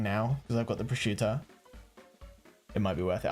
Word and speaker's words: prosciutto: You wouldn't think it's pronounced prosciutto. Like, you just look at that and that doesn't look like... I would say like prosciutto or something like that. But no, prosciutto.